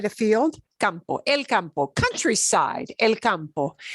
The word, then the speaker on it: campo: Compose, compose, components, compost is a little bit different, but compose, right?